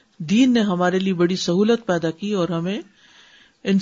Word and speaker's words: سہو: کا فعل بھی ہے۔ سہو ہوتا ہے، سہو نہیں ہوتا، سب لوگ اپنا تلفظ بھی درست کر لیں، سہو جیسے لغو، ٹھیک ہے، کرب، نفس، سہو۔ سجدہ سہو کے اسباب،